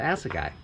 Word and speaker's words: Assegai: tires you should start by knowing how to pronounce the tires it's uh as a guy i think all right so how are we